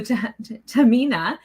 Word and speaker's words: Tehmina: I'm going to say her name wrong again. So Tehmina is not just a parent coach.